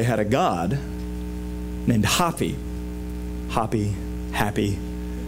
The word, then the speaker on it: Hapi: Happy. I tried to find a way to pronounce it that was not happy, because then you're thinking of the dwarf.